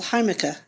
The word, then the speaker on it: jamaica: which in Spanish yes it's called haa and it's spelled Jamaica and so you'll see